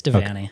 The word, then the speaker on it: Devanney: You pronounce your last name Devanney? Yeah, it's Devanney.